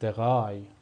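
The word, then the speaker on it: drei: چی مثل چی مثل دغای دغای دغای مثل دغای به معنی عدد سه هستش پس ا ای صدای آی میده آی هم صدای آی میده.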